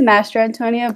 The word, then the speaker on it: Mastrantonio: Here is Mastrantonio. I hope I got that right. That was close enough. Close enough? Okay, Yeah, cool. it's Mastrantonio, but no one ever tries to say it.